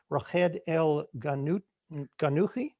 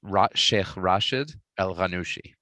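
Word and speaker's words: Rached el-Ghannouchi: get my pronunciation here rajed el ganut kanuki it's rashid el ranushi okay it's because the confusion there is that so in in tunisia when you write someone's name in roman characters you use you treat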